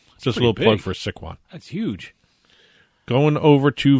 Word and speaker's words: Sycuan: It's Sycuan.